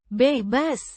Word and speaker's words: bebas: Pronounced. Bebas. Similar to bebas, with a soft a sound.